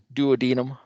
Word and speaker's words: duodenum: D is for duodenum, or some people pronounce it the duodenum.